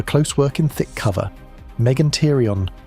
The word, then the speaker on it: Megantereon: Megantereon, pronounced Megantereon.